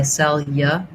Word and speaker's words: cellular: Because the first syllable is stressed, it's better to try cellular rather than cellular. The U makes that syllable too long and too stressed. So instead, it's more of a ya.